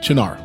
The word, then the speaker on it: Cynar: Martini and Rossi sweet vermouth, and Cynar.